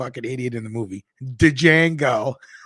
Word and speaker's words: Django: idiot in the movie dejango remember when he was talking to the French guy he goes can you spell it d J a n g o the D is silent you could just any